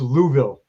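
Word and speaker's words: Louisville: We were pronouncing it wrong even though it's Louville. Like just you're supposed to like choke on the word.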